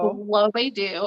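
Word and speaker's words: Lovedu: it on my own it's called looking for lobe do um and it's actually spelled loved and then the letter u but it's pronounced below they do and i picked it up because i saw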